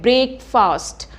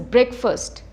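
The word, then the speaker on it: breakfast: नाउ इसको हम बोलते हैं ब्रेकफास्ट। हम फास्ट पे बहुत ज़्यादा स्ट्रेस करते हैं और फास्ट को हम अक्सर स्ट्रेच करते हैं, ब्रेकफास्ट। बट इसकी जो करेक्ट प्रोनाउंसिएशन है दैट इज़ ब्रेकफास्ट। क्या है इसकी करेक्ट प्रोनाउंसिएशन? ब्रेकफास्ट। आपने फास्ट को फर्स्ट की तरह बोलना है, ब्रेकफास्ट।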